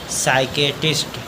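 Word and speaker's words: psychiatrist: पढ़ेंगे साइकोलॉजी अगला है पी एच पी एस वाई सी एच आई ए टी आर आई एस टी एस से पहले पी आया है तो पी साइलेंट इसको पढ़ेंगे इसको पढ़ेंगे साइकेट्रिस्ट साइकेट्रिस्ट अगला है पी एसवाई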